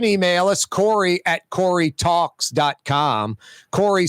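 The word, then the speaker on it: Kaare: Corey spelled K-A-A-R-E. Yeah, I know. That's how it's spelled. Scandinavian.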